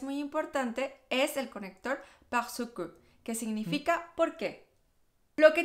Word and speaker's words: parce que: en la vida cotidiana no vas a escuchar el parce que, vas a escuchar parce que. Sí, hacemos la contracción parce que. Parce que. Es decir, que la R no la pronunciamos en la vida cotidiana.